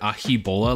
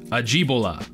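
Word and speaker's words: Ajibola: going on I think I pronounced this guy's name Comfort ahi bola last time and he says you just murdered my name it's pronounced aji bola I'm Nigerian I'm so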